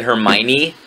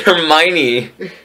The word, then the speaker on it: Hermione: 66611 said Hermione. What the fuck? Wait, no, it's Bloody Mary. Yeah, but Bloody Mary. Why? No, she said Hermione.